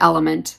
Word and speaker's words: LMNT: an electrolyte called lmnt a lot of people pronounce it element it's got an unflavored